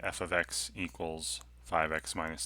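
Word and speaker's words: f(x): f of x right this is pronounced f of x not f times x even though i know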